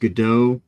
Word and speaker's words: Godot: this all right uh well it's technically it's pronounced gdau uh like waiting for G but uh what